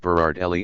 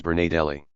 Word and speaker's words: Berardelli: Throughout the trial, he referred to the slain guard Berardelli as Bernadelli.